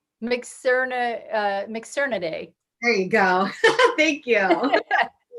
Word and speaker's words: Mitsukurinidae: Mikki, can you help me pronounce this? It's MITS, MITSUKURINIDAE. Mixernidae.